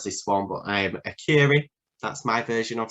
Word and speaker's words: Akureyri: the north of Iceland, and I can never pronounce this one, but Akureyri, that's my version of saying it.